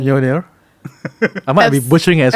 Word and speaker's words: Mjolnir: Mjolnir. I might be butchering as well, but Absolutely cannot. it's like Y instead of J Yeah. when you pronounce it.